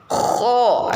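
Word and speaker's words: خ: Jadi pangkal lidahnya itu naik ya. Kho, naikkan. Kho, ujung lidahnya tetap diam ya. Kho. Gitu ya. Itu karena kho itu termasuk huruf isti'la ya.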